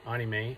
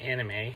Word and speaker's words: anime: I pronounce it the way the Japanese do, anime, as opposed to anime, but pronounce it however you like.